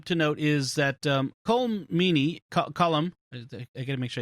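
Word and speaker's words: Colm Meaney: uh one thing to note is that um cole meaney column i gotta make sure i say it right colomini is not in this episode uh and he's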